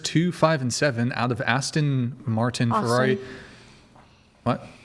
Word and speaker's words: Aston: Thank you so much man for chairs 25 and seven out of Aston Martin Ferrari. What? Austin Martin. Aston. That's how you pronounce it.